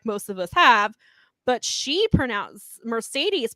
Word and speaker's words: Mercedes: correct, they will be using them here because Mercedes came out, and it's interesting. So I want to make this so. Kevin Kelly was pronouncing it as Monet, like most of us have, but Mercedes pronounces it as Money.